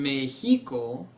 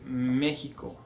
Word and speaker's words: México: So instead of saying Mexico, we see México.